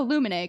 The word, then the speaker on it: Lumine: like okay quick question how do you pronounce the scansion character's name and she was like oh Lumin cuz it's the same and I'm like okay